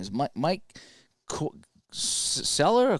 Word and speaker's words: Cuellar: the Cleveland pitcher, I have a hard time pronouncing his name, is Mike Seller or Queller. It's Cuellar.